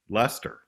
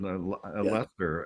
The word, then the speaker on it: Leicester: said Leicester, but it was like, as many interviewers have said, what gave you the idea for the Earls of Leicester?